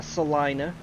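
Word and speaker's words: Celina: See, in my my state, we have a Salina, spelled C-E-L-I-N-A. So with it being S-A-L, I'm like, well, it must be Salina.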